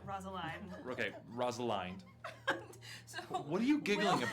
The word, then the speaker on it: Rosaline: Rosaline. Sorry, fuck. Think beginning of Romeo and Juliet. Rosaline. Okay, Rosaline.